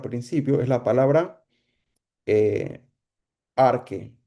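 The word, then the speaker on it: arche: Esa palabra principio es la palabra arque. Se escribe A-R-C-H-E, arque. Arque es la misma palabra para cuando decimos principio o principado, o cuando, eso es en griego, ¿no?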